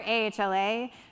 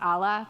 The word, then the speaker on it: AHLA: this is Dice like we're ahla and people like try to pronounce us Allah please don't do that um we are not that so let's just be